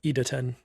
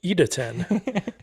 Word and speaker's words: Idaten: Idaten.